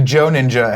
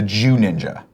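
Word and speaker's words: Joo Ninja: The Joe Ninja has corrected me and said, Nick, it's the Jew Ninja. The Jew Ninja, but it's spelled J-O-O.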